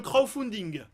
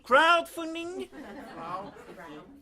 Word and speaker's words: crowdfunding: nos envies par le crowdfunding? Alors effectivement, crowdfunding, si je le prononce comme vous, ça veut dire financement par des corbeaux. Crowdfunding with a D, crowd. Repeat after me, crowdfunding.